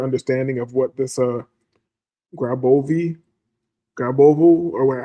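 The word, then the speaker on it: Grabovoi: Um, grab a graovi. Graovi numbers. That's how you say it. G R A B O V O I.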